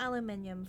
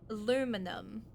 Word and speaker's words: aluminum: printed on it wait how do Americans say it not aluminium for you guys it's it's aluminum just a Dusty sheade